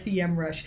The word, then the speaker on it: Semrush: for a couple years now i've said semrush they very politely reached out to me and said by the way it's sem rush so if you're wondering this is how they want us to pronounce it as sem rush so let's talk about